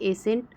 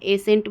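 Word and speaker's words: ascent: नहीं हो रहा है एसेंट बस हम उच्चारण कर रहे हैं सी को हम साइलेंट कर दे रहे हैं यहां पे डिसाइल डिसाइल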